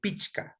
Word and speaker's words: pichka: Recordarles que, bueno, se pronuncia aquí pichka con la che, pichka. Pichka es el número 5, ¿ya?